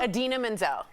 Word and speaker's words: Idina Menzel: Idina Menzel.